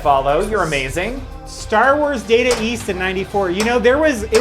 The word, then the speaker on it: Data East: Data. Dater. Data. Do you know the appropriate, first off, do you know the appropriate way to pronounce Data East as an Australian? Data East. That is correct.